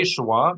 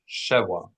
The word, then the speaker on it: shwa: And when you say shwa, make sure you're putting the accent symbol over the last vowel, shwa, and not shewa, or shva, and not sheva.